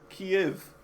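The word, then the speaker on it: Kyiv: It's spelled wrong, but it it it says the same thing. K Y I V. Kiev.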